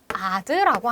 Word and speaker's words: ad: 이런 거를 우리는 아드라고 한다. 자, 아드라는 것은 라틴어 발음이야.